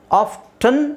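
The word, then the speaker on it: often: ಮಾಗೇಜ್ ಇದು ನಾನು ಹೇಳಿದ್ನಲ್ಲ ಆಫ್ಟನ್ ಅಂತನಾದರೂ ಹೇಳಬಹುದು ಆಫ್ಫನ್ ಅಂತನಾದರೂ ಹೇಳಬಹುದು ನಾನು ಆಫನ್ ಅಂತ ಹೇಳೋಕೆ ಇಷ್ಟ ಪಡ್ತೀನಿ ಯಾಕೆಂದರೆ ಎಕ್ಸ್ಟ್ರಾ ಯಾಕೆ ಒಂದು ಅಕ್ಷರ ಅದರಲ್ಲಿ ಹಾಕೋಬಹುದು ಆಫ್ಟನ್ ತುಂಬಾ ಜನ ಆಫ್ಟನ್ ಅಂತ ಯೂಸ್ ಮಾಡ್ತಾರೆ ಫಾರಿನರ್ಸ್ ಫಾರಿನರ್ಸ್ ಅಲ್ಲೇ ಈ ಎರಡು ಪದನು ಇದೆ ಆಫ್ಟನ್ ಆಫನ್ ಎರಡು ತರನು ಯೂಸ್ ಮಾಡ್ತಾರೆ ಅವರು ಸೊ I would say like ಆಫನ್ is better option ಆಫನ್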